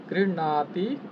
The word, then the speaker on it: গৃহ্ণাতি: আচ্ছা, এগুলো আপনাদের কি পড়িয়েছিলাম একবার, না পড়লেও আচ্ছা দেখুন এখানে উচ্চারণ দেখুন, এখানে কিন্তু ভয়ের সাথে মূর্ধন্য ন যুক্ত আছে, যার কারণে উচ্চারণটা হবে এরকম গৃহণাতি, গৃহণাতি।